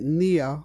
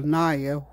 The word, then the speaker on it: Nia: And we're tonight at Nia, or Naya, however you want to pronounce it, spelled N-I-A, which means purpose.